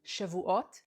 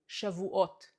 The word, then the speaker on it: Shavuot: Shavuot means weeks, week in plural, weeks, Shavuot. Sha vu ot, weeks.